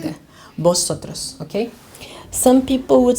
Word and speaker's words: vosotros: Just because most of Korean people cannot pronounce the letter V, right? They cannot say V, they say B, right? So it's vosotros, okay? It's a gift, okay? I would say like that, vosotros, okay?